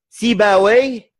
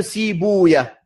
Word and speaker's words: Sibawayh: Donc, ou bien on le prononce comme à son origine, cette manière-là, Rahouya. Ça, c'est la prononciation perse. Ou bien on l'arabise, comme ça a été fait. Sibawayh au lieu de Sibouya. Et Rahawayh au lieu de Rahouya.